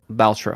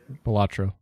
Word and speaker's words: Balatro: Yeah, 2 weeks, and it's like, now I will say something about Baltro. How do you say that? Balatro.